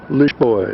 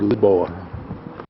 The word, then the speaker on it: Lisboa: the harbor entrance to lioa is the way the Portuguese pronounced Lisbon or liboa and here is the